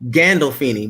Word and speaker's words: Gandolfini: um james and and um now let me pronounce the last name correctly because is it s scandal feeney no it's gandalfini gandolfini with the g okay gandolfini okay james gandolfini